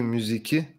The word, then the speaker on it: müziği: So it's not hangi müziği, it's hangi müziği. Why? Because the K sound changes to the soft G.